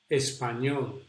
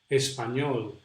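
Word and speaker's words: Español: pronounced like this actually the position of the tongue is very similar to the position where we pronounce the double El ja yeah so it's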